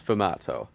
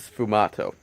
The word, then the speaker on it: sfumato: I haven't really heard anyone talk about it in videos, but it's sfumato. You spell it like S-F-U-M-A-T-O, and I'm going to assume it's pronounced like that.